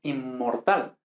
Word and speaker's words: inmortal: cocacola e incluso inmortal se escribe nm pero esto normalmente se pronuncia con 2m es inmortal incluso obvio que se